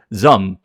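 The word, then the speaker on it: ZA/UM: Uh, that za slum m is pronounced zum. It's just one like syllable. Zum. It's like zum. It's not zam.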